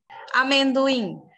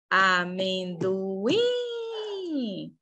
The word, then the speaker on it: amendoim: é a sílaba tônica amendoim amendoim última sílaba tônica Parabéns bens a